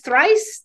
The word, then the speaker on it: Thric3: you to visit Thrice once twice Thrice that's how you say it and um and